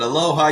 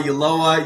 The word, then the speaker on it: Ulloa: Sometimes people pronounce it aloha, Ulloa. You did it perfectly.